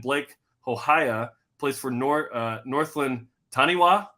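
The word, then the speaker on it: Taniwha: And former players Tim O'Malley with Tasman Mako and Blake Hohaya plays for Northland Taniwa. How do you say it? Tanifa, thank you.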